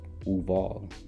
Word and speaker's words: Uval: This is probable since Uval, pronounced Uval, there we go, is virtually oval or egg shape, from Latin ovum, Gaelic ub or uv, and egg.